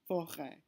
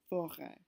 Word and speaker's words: forêt: forest, le forêt, le forêt. You notice that the word does not change pronunciation, but instead indicates that the word used to be spelled F-O-R-E-S-T, even though now the S is not pronounced.